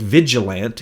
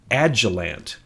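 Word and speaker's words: Agilent: I said Vigilant instead of Agilant.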